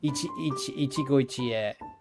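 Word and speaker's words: 一期一会: So it's like Ichigo Ichie.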